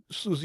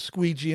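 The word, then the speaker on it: Siouxsie: and she was getting her older sister a present, and she brought up the Susie and the Banshee album. She goes, I'll take this Squeegee and the Banshees album for my sister.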